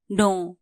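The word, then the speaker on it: know: teach जानु थहा पनु नो के एन O double नो यहां के साइलेंट हुचा के एन ओ डबल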